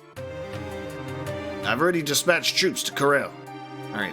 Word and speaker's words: Corel: I've already dispatched troops to Corel. Alright, it's Corel. I keep having to correct myself because of how it's been pronounced in the recent game. I always want to say Coral.